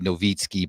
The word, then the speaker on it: Nowicki: So my last name is Nowicki, Nowicki. It's Polish. It's actually supposed to be Nowicki, but nobody understands that's how you pronounce it.